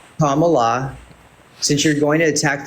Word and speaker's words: Kamala: there we go dude commala is not hard to say Comm La is it really that difficult Comm La since you're going to